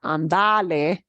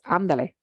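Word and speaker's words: ándale: it move it andale it's not it's not ondale it's andale Andale right let's go vamanos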